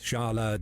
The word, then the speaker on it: Charles: Like, this is probably like the most egregious mispronunciation so far. Like, it's Charles, right? I'm pretty sure there's some king of France called that too, Charles.